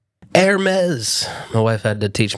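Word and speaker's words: Hermès: Hermes, my wife had to teach me how to pronounce that.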